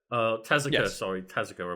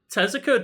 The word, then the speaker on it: Tezuka: Itself, Miyamoto and Takashi Tezuka, Tezuka, I believe it's pronounced, who I feel super bad for.